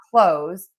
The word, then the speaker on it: clothes: Technically, you can pronounce the th in this word if you want, but so many people drop it and just say the word close.